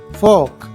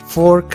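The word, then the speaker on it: fork: Plate, plate, platter, platter, ball, ball, फोक, फोक। यहाँ ये बात नोट कर लें कि इसे आप फोर्क नहीं बोलेंगे बल्कि आर के साउंड को साइलेंट करेंगे।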